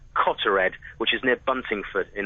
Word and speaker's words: Cottered: It was 4:15 this morning over the village of, I think it's pronounced Cottered, which is near Buntingford in Hertfordshire.